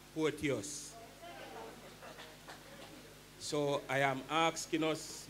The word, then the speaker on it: Porteous: It is not Porcious. Me no name Porcious. My name is Porteous.